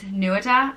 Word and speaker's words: Nuada: The next name is Nuada, and it means protector or to acquire, and it's pronounced Nu-a-da, Nuada.